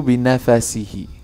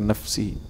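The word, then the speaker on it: بنفَسه: Yajudu binafasihi atau binafasihi. Nah, nafas itu bacanya, bukan nafsihi.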